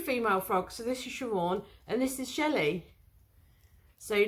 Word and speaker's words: Siobhan: Siobhan. Sibiohan, you're saying it wrong. Sibiohan, because Simon pronounces things as they're written.